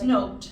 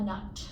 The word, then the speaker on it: Noot: My last name is N O T and it looks like new and it rhymes with boot, but it's not. It's Dutch. So, it um it's it's note like a music note. And in the Netherlands, it's actually a nut.